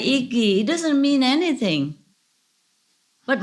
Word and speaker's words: IGY: How to spell it? Iggy. IGY. Is a Pusu word for human. I said Iggy.